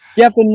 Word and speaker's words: Gethin: That is how you pronounce it. That's good. Gethin Richards, where are you calling from?